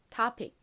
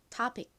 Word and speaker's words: topic: 그리고 이 단어의 미국식 원어 발음은 여기서 이 O를 O로 발음하지 않고 I에 가깝게 발음을 합니다. 그래서 topic, topic 이렇게 발음해요.